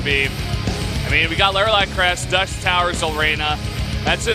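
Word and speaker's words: Lerilak Crest: Lairley at Crest. How do you say it? It's Laralac Crest.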